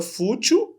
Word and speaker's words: fútil: A palavra fútil, ela é paroxítona.